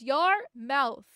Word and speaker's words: Yarmouth: Yarmouth mouth yarmmouth void can't speak. was literally it says your mouth. That's how it's pronounced.